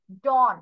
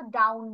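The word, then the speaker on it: dawn: ডন, এটা কিন্তু ডাউন না, ডন।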